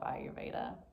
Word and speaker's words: Ayurveda: the dreaded pronunciation of ayurveda so the way that i was taught was to think i your veda ayurveda as i mentioned